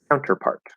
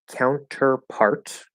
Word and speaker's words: counterpart: okay stop t then the t in the middle with counter it might stay but it's very likely that we're also going to drop that t because again we have nt plus vowel the vowel is er in this case and so we'll say counter so the t just completely disappears so the most common